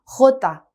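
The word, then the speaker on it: jota: 호다. 한 번 더 읽어볼까요? 호다. 그렇죠. 얘도 지난 시간에 배웠던 해와 마찬가지로 목을 긁는 히읗 소리예요. 호다.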